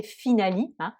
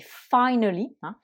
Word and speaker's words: finally: c'est bien sûr finally et surtout pas ne pas le prononcer finaly mais finally donc là le i se prononcent eux ait qui est normal puisque c'est le son de l'alphabet anglais pour la laiterie ensuite